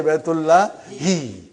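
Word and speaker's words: بيت الله: We all know Baitullah. You always say, but now today you will say Baitullahi.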